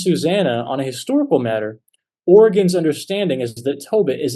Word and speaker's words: Origen: In his letter to Africanus, Origen, or actually Origen is the better pronunciation of his name, Origen of Alexandria defends his use of Daniel 13, the deuterocanonical portion about Susanna.